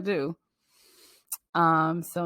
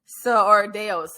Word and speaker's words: Deus: Or Deus, I may be pronouncing it wrong. I think Dos is like the Hispanic maybe way to pronounce it in Spanish, in Espanol.